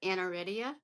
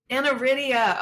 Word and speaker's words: aniridia: is an active volunteer I hope I'm pronouncing this correctly we'll get all into this particular organization it's the AFI or the anaria foundation International did I say that correctly JJ it's anaria anaria okay we'll definitely get